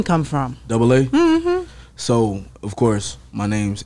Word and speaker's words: Dubba-AA: the name come from double A so of course my name's so that's what double A but it's spelled different because when I went